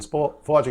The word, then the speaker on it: FloLogic: Now, how can everybody find out more about FloLogic? Yeah, so our website is FloLogic, and FloLogic is spelled FLOLOGIC. There's not a W in there.